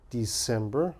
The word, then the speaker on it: December: understand the mistake December December okay I understand because this is actually a c s it makes an S sound December but you got